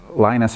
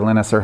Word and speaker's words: Linus: was was made um Linus or linister however you prefer to pronounce it um I say Linus because that's normal to me because I watched the peanuts growing up I was learning